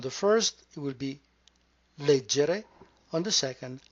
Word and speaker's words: leggere: begin with the word late Jerry you notice in the center the cluster GE which is always going to be pronounced J never gay you also do not